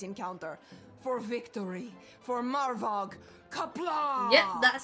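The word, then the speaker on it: Qapla': Kapla!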